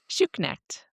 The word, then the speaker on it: Schuknecht: Did I pronounce it right, though? Schuknecht. I think Yes.